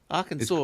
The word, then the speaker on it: Arkansas: Arkansas. It's pronounced Arkansas.